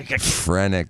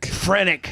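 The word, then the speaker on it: phrenic: you say I frenic frenic like friend.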